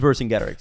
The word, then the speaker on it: Vercingetorix: It is Vercingetorix. Look how it's spelled, Steven.